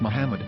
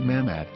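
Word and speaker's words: מחמד: yehuda's Hebrew English dictionary it is correctly pronounced as Muhammad not mammad so how we're going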